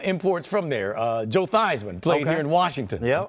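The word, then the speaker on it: Theismann: I think it was Thesman when he was playing, I believe. So, I keep I keep saying Thyman, so I don't Yeah. Well, he changed it to pronunciation to rhyme with Heisman.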